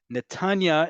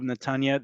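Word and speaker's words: נתניה: Netanya is how we normally say the town, but however, when you're going in the direction of Netanya, they're going to say Netanya, right? The inflection goes on the last syllable to indicate the direction you are. That is the direction you are going.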